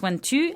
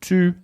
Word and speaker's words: tu: So does tu and vous, they don't rhyme? They do not rhyme.